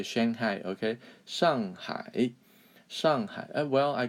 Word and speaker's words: Shanghai: China called Shanghai Shanghai Shanghai is actually the correct way to say it Shanghai so high what does that mean